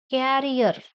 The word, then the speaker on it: carrier: For example, the word Carrier. Carrier, two syllables. The first one is stressed.